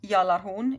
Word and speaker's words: Gjallarhorn: Okay, so that, my friends, was Gjallarhorn. Or Gjallarhorn is how I would say it, the G being silent.